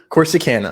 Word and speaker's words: Corsicana: i know how to say it of course corsicana of course i can't corsicana honey you say